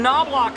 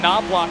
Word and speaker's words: Knobloch: Massive checkup, and I have to say it's ironic that Justin Knobloch is the number 1 K, but the K in his last name is silent.